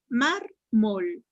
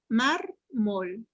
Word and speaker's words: mármol: Mármol. Mármol. En la A. En la A, última, penúltima sílaba, es palabra Grave.